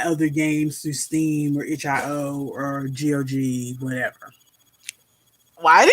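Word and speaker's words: itch.io: you know buy other games through Steam or hio or Gog whatever why do you say it like hio say it like that well how do people say it ichio I thought it was itch i o everybody that I've heard said say it says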